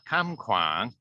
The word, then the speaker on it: Kham Kwang: I've got to say it like that, Kham Kwang.